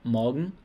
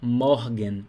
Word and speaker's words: Morgen: R está antes de consoante, né? Então, R aqui tem som de A. Então não é morgen. Se você fala morgen, tá errado. Jamais fale morgen. Então é morgen. Não é um A também tão aberto, não é morgen. É um leve A.